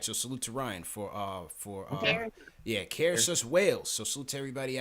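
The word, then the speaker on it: Caersws: He says his city is pronounced Cairsus. All right, so salute to Ryan for Cairsus, Wales.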